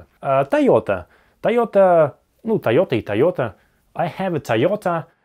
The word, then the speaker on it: Toyota: Тойота. Тойота. Ну, Toyota есть Toyota. У меня Toyota. Они могут не понять. Тойота. Тойота, Тойота. Помнишь? Тойота. Тойота. Здесь два двойных звука подряд. Тойота, Тойота.